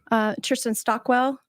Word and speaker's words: Kirsten Stockwell: She is a former Kirsten Stockwell. I hope I'm pronouncing her name right. You did pronounce it right.